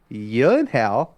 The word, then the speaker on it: Gyllenhaal: though it everybody calls him Jake Gyllenhaal and his sister Maggie Gyllenhaal, their last name is actually pronounced Gyllenhaal.